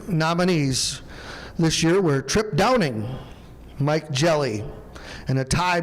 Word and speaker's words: Trip Downing: The winner for 2025, the Dan Hannis Super Farm Award, goes to Trip Downing. Or in other words, Chip Downing if you're Greg Elsing. We got him to finally say it correctly, Trip.